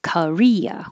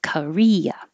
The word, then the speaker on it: Korea: which is similar to korea with three syllables korea thoroughbred or that o